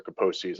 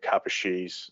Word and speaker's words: Kaposi: also associated with uh capacities or kaposi's i don't know what people like to how they would like to pronounce it these days also associated with uh or i think some people say kappa she's sarcoma so this is a